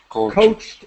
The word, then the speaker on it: coached: just say uh coached coached has a t sound as quick as possible coached yeah great now